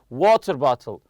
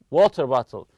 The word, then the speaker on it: water bottle: of the compound noun the stress goes on the first part for example you say water bottle water bottle we stress the word water on the about noun